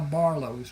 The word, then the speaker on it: Barlos: And that is how Barlos was born. The name was not a problem for the people in southern Louisiana because the French Acadian influence. It is pronounced Barlo.